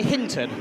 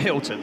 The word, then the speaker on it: Hinton: It's Lexi Hinton, not Hilton.